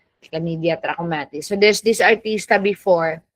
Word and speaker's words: trachomatis: Okay, chlamydia is, that's how you pronounce trachomatis.